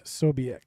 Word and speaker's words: Ksobiech: he was going to pronounce it with a K, and somehow his mind knew to keep the K silent.